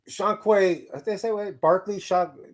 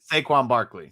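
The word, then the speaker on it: Saquon Barkley: So Shaquan Barclay, Shaquan Barclay, did I say it right? Saquon Barclay. Saquon Barclay.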